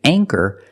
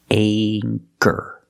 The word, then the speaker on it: anchor: with the long a with anchor the CH makes the k sound so for that reason we pronounce the a with a long a sound anchor anchor this is an